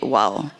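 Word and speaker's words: W0W: That's the reason why we call it WOW. But it's spelled W, zero, W.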